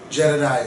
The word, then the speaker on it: Jedediah: And that, how do you pronounce her name? Jedediah.